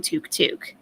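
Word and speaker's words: tuk-tuk: Well, Tavern, we've been discussing how to actually pronounce it, and apparently Chantal might actually be correct saying Teuk Teuk.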